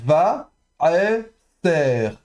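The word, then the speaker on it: וָעֶשֶׂר: Vous avez ensuite le vav ici, va, aeser, va, aeser. Donc normalement le a est de nouveau prononcé en fond de gorge, avec le ségol, donc va, ser, d'accord.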